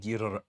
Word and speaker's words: Ghidorah: ASMR of him saying "Girra." Say it. King Ghidorah. Yeah. He'll record that for you so you can always hear the proper way to say King Girra.